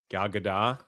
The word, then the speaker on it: Gal Gadot: know that we've had arguments about how to pronounce Gal Gadot's name. Gal Gadot?